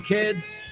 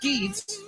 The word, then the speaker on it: kids: Because it's not kids. You have any kids? Kids. Es un sonido vocal cortito y no es una I latina, sino más como una E.